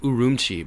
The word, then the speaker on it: Urumqi: It's actually pronounced Urumqi by the local people there.